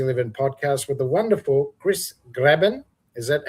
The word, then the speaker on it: Cris Graebin: And you're watching the Get Busy Living podcast with the wonderful Chris Grabbin. Is that how you pronounce it?